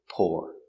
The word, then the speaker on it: pour: po pour the water into the glass same pronunciation P or pour pour the water into the glass if it's